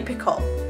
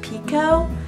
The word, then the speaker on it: Picoult: good, and she's Jodi Picoult. I think the name is actually pronounced Pico, but I've been saying Picoult as long as I've been reading her.